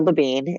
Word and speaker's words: Labine: Yeah, Labine, rhymes with Queen.